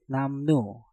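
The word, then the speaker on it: 남루: Nam diakhiri dengan miem, setelah itu diikuti kata yang diawali dengan real, maka realnya kita rubah menjadi nien. Untuk kata ini pengucapannya menjadi namnu, namnu, namnu, namnu.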